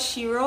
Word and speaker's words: Shiro: this fragrance right here it's called shiro i believe that's how it's pronounced i'm gonna zoom it